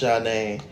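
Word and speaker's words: Zhané: Number 3, Zayn, pronounced Janae.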